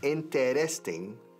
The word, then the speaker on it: interesting: Interesting. Cuatro sílabas. Lo decimos en tres.